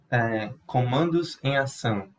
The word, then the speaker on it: Comandos em Ação: Can you say that again, just so I can get the get the pronunciation? Comandos em Ação.